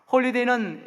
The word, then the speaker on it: holyday: 바로 할러데이라는 말입니다. 여러분, 이 할러데이가 홀리데이 잘 보십시오. 여러분, 스펠링 하나 차이입니다. 그렇죠? 홀리데이는 HOLYDAY이고요. 할러데이는 뭡니까? HOLIDAY입니다.